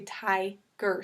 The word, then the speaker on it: tiger: But when it's a 2-syllable word and that consonant is with the second syllable, so tiger, that first vowel is going to be long. So it's going to say tiger.